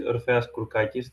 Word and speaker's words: Oras Kulkis: And yeah, I'm I reside in Greece and my name is Oras Kulkis, that's how it's pronounced and I'm glad to be here.